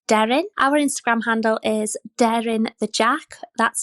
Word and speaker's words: Deryn: This week, we have another adorable JRT from the British Isles, Wales specifically, and her name is Darren.